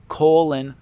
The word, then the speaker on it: Colin: Colon Powell. His name is pronounced like colon because his parents are too illiterate to figure out the right pronunciation.